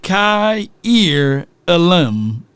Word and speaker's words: Kaiir Elam: without watching any tape Kier elim they even helped me out the US poor Mississippi folks it says pronounced Kai ear Alm and I still probably